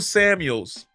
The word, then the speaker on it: Samuel: let me check Deo Samuel's age always say his name carefully because you want to say Samuels but it's Samuel it's no it's not plural so I always have